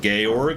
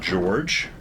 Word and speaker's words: Georg: The Sound of Music, his name was Georg, or pronounced Georg and not George.